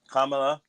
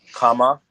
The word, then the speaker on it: Kamala: Again, I'm saying her name wrong. Kamala. Kamala is not the word that we're supposed to be saying. It's Kamala. Kama and then la.